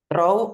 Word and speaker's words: throw: Throw or throw? Throw. Yeah, it's throw. Throw. The, your tongue must be in between your teeth.